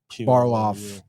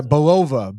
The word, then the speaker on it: Belova: And Florence Pugh, Yelena Barloff. I had to pronounce that name better. Yelena Belova.